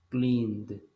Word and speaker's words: cleaned: Lo mismo va a pasar con el verbo clean. Clean termina con N. Le pongo la ed, pero solamente voy a pronunciar una D. Cleaned. Y ahí está el pasado. ¿Sí? Sí se escribe la E y la D, pero la pronunciación es nada más la D. Cleaned.